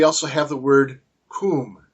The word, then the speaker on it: cwm: have the the word Kum cwm which is pronounced Kum although they have anglicized